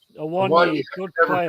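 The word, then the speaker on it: Awoniyi: I really like your striker, Awakawu. Is that his name? Awonyi, good never player.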